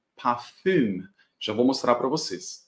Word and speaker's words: Parfum: a gente pode falar pafan como se fosse no francês mesmo inclusive com essa pronúncia do francês ou a gente pode falar da maneira alemã mesmo que é parfum já vou mostrar para